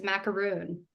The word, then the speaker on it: macaroon: just made of coconut no cuz there's an extra a it's macaroon and this is the